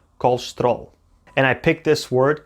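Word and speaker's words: colesterol: unstressed syllables were shortened the word has four syllables called loose to it all but we really only hear two called stroll and i picked this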